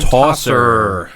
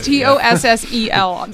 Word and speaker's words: Tossel: That's an R. That is not an R. I should have been It a is doctor. not an R. I really should have been a doctor. It is Tossel. That is an L.